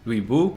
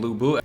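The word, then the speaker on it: 吕布: Now, I know that him and Lu Meng, for their names, they are pronounced with the soft W, so Lu Bu's name is actually pronounced Lui Bu, which is why Origins kept messing it up, but I'm going to,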